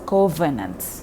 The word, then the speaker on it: covenants: es doctrina en gobernantes recuerda que la ub en inglés se pronuncia con con la posición de tus dientes superiores en el en el labio inferior y entonces es covenants doctrina gobernante muy bien